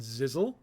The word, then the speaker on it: Zizzle: Okay, next up, Galrath the Undying and Zizzle. Rhymes with Sizzle.